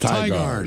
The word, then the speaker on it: Tigard: It's pronounced Tigard.